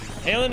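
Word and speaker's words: Haaland: Halen is pronounced almost like Holland in English.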